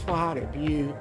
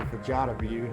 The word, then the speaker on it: Fajada Butte: Now that's Fajada Butte, or Fajada Butte. I've heard it pronounced both ways.